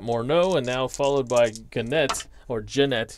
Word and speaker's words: Gennett: We got Morneau, and now followed by Gennett, excuse me. It's the hard G.